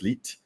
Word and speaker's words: 1337: is a mouthful but we pronounce it as leet where in the geeky world numbers are alphabets to us so that's l-e-e-t being a little shorter word of the elite word right so elite elite